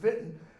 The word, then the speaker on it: Wittenberg: was in Wittenberg w-i-t-e-e-n-p-e-r-g I always pronounce the German pronunciation Vinton and I'll have students